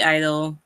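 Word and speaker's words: (G)I-DLE: My pick was Silent G Idol.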